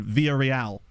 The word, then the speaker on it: Villarreal: Linfield, Lazio, Ludogorets, and then Villarreal, where you don't even pronounce the L's.